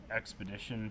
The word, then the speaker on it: Xpedition: is the the tru-spec 24-7 expedition pant spelled with an X right and when I